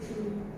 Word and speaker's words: knee: So to wear long clothes and skirts below the knee. Below the knee. K is not pronounced here.